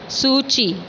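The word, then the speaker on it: Suu Kyi: लेड बाय आंग सान सू ची। इसको प्रोनाउंस करेंगे सूची नाम से, इसमें सूकी लिखा हुआ है बट हम सूची बोलेंगे।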